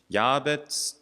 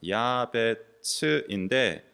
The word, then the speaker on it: 야베츠: 자음이 어근이 되고이 자음을 어떻게 그 거의 다 모음을 어떻게 붙이냐에 따라서 이게 막 달라지는데 야벳 그 우리말은 쓰지만 원래는 츠 발음입니다. 야베츠인데 야베츠라는 단어는 고통이라는 뜻 성경에 생각해 보세요.